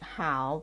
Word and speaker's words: 好: see a vocabulary with the word how pronounced as the third tone first how do you